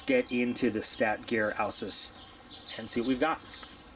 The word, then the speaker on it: Ausus: I took Latin in high school many moons ago. If I'm not mistaken, this is pronounced Ausus, and they give you a little definition there on the box.